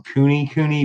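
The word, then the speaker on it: kunekune: you raised they're called you pronounce them cooney cooney but it's k-u-n-e-k-u-n-d um we have heard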